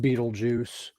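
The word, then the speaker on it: Betelgeuse: remember fair enough Beetle Juice's real name is pronounced Beetle Juice but it's spelled bet I'm trying to remember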